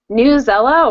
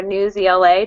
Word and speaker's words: Newsela: Newsella, or Newsela, depending on how you want to pronounce it, is another great website.